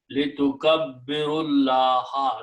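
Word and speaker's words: لتكبروا الله: Litukabbiru Allah, and then you do not pronounce this alif in the beginning, in the middle. Litukabbirullaha, that's the word in the Quran.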